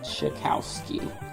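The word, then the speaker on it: Czajkowski: So the creator of Ava's Demon, Michelle Chikowski, I believe that's how it's pronounced.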